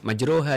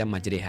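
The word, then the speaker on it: مجريها: Imalah itu dibacanya e jadi kan majroha dibaca majreha. Nah itu dia tempe itu pakai imalah.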